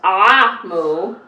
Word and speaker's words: Omu: cover it says notes to the reader Ramu pronounced ah mu is the Eco term for Queen an ebow